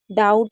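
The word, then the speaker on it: doubt: अब देखिए बी कब साइलेंट होता है। जैसे ऊपर भी बी साइलेंट था तो नीचे भी कुछ वर्ड मीनिंग में बी साइलेंट है, तो ये फिक्स है। आप इसको याद कर सकते हैं। जैसे डेट हो गया, डेटर हो गया, डाउट हो गया, सटल हो गया। तो यहाँ पर बी आपका साइलेंट है, ठीक है।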